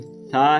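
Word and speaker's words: ث: ता आगे वाला ता ये जो सा है ना इसमें सीटी की आवाज नहीं आनी चाहिए।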